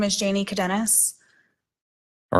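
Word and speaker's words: Cadenas: Jane hello your honor my name is Janie cadenis all right can you spell that last name c-a-d-e-n-a-s okay go ahead also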